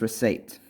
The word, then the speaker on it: receipt: have this week is receipt which is spelt are e see we've got to remember the rule which is e I and then heat C will that P sound silent doesn't it so if we're breaking